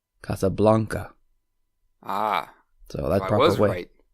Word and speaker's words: Casablanca: No, I've actually always said Casablanca, but then I took a Spanish class in college. I come to find out that's really not the proper way to say it the proper way. Alan, you took Spanish as well. Yes, I did. We learned our vowels, and it would be Casablanca.